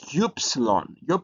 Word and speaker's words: upsilon: uh it is uh it has a a oo sound like universe like in universe so it's gyps and then